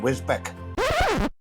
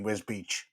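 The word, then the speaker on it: Wisbech: really don't want apparently the town's name is one of the most mispronounced names in the UK today we are in wisbeck sorry I mean whiz Beach let's discuss it one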